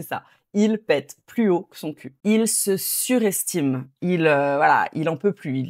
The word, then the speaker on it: que son cul: Alors, quand on parle naturellement, rapidement, on va plutôt on prononce pas vraiment le e de que, on va dire que son que son cul.